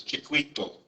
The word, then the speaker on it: Chiquito: This is kind of spelled a little bit different here, but you would pronounce this Chiquito.